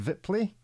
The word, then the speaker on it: Wipfli: We are delighted to welcome to the show a slightly nervous, non-English speaking Wipfli. Now, I will almost certainly have pronounced your surname incorrectly. Yes, it's right. Wipfli.